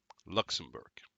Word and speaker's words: Luxembourg: Luxembourg, that's how you pronounce it.